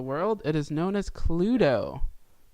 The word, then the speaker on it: Cluedo: it is known as Cluedo. Just literally just how it's spelled, just with a D-O on the end.